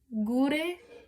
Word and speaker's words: gure: We have another hard G. Gure sega pesta. Or sega pesta. Gure sega. Sega. That's a soft G.